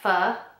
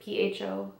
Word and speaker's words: pho: went to a Vietnamese restaurant and I got pho. Is that how you pronounce it? P-H-O, pho.